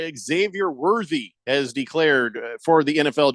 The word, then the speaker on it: Xavier Worthy: So much so, I vow to always pronounce his name correctly. Xavier Worthy.